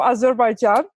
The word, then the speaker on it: Azerbaijan: So just to make sure I pronounce my country again so people will get it right. I am from Azerbaijan.